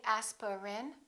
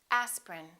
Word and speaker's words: aspirin: a list of words each one of these words contains one vowel one syllable which is not pronounced look at these words and repeat after me aspirin don't say aspirin say aspirin evening evening family family